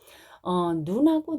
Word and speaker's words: 눈: 그 다음에 소리의 길이 같은 경우는요, 이런 거죠. 눈하고 눈이 있다고 생각을 해보세요. 약간 길게 발음하는 거는 이런 식으로 표현한 겁니다. 눈, 짧은 눈은요, 사람 눈을 말합니다. 그 다음에 눈하고 이렇게 약간 길게 발음하는 건요, 밖에서 내리는, 펑펑 내리는 눈이죠.